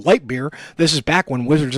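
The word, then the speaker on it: Leitbur: Yes, it's pronounced Lightbeer.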